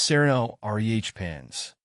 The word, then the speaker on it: Serenoa repens: bit tricky it's pronounced Sereno re pans the emphasis is on the second syllable of serenoa and the first syllable